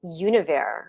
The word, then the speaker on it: Univers: Actually, I've been told it's pronounced Univer, but it's Universe, Univer.